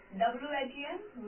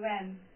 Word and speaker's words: when: In this word, the first word is when, and as H is silent in this word, so we will not pronounce this H. So W-H-E-N, when.